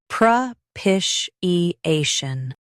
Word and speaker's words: propitiation: Stress pish and keep A clear. Pish. I. Shun. Propitiation.